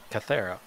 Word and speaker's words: Kythera: Kythera. I had to listen to the pronunciation like 10 times to get it down.